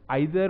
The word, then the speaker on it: either: इन दोनों की प्रोनाउंसिएशन कई बारी आइदर और नाइदर भी कह सकते हैं, करेक्ट प्रोनाउंसिएशन दोनों ही है, आइदर और नाइदर और ईदर और नीदर।